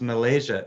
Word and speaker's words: Malesia: I read it as Malaysia, but it may be just pronounced Malaysia. It's Malesia, as what I think you call it, a floristic region.